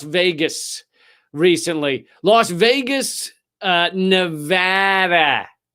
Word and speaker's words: Nevada: happened in Las Vegas recently Las Vegas uh Nevada Nevada you gota just remember when you show up